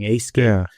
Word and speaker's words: Aescape: This one is called Aescape It's spelled like escape. But with an A at the beginning Aescape.